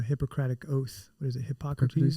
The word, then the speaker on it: Hippocrates: Hippocrates? Hippocrates. Hippocrates, I didn't want to mispronounce his name, but Hippocrates, he actually, speculated